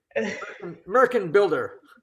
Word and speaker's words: Märchenbilder: the Schumann Märchenbilder, which, if you mispronounce it, sounds like something that Donald Trump would aspire to be. Märchenbilder.